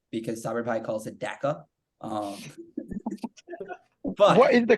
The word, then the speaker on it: Dhaka: Maybe you guys pronounce them entirely differently because Saber Bhai calls it Dhaka. But what is the correct way to say it? Dhaka, Bangladesh. Well, not currency. Dhaka, Bangladesh. What, Dhaka?